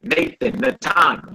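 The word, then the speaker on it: נתן: Natan. Yep, like Nathan, Natan, which means to give.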